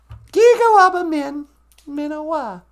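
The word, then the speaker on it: Giga-waabamin miinawaa: We say Gigawaba Min Minawa, and it means I will see you again.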